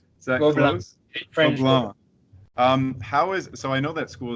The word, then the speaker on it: Gobelins: You said you went to, I always mispronounce this school. In my mind, it's Gobelins, because that's how it's written. But Gobelins, is that Gobelins. close? French. Gobelins.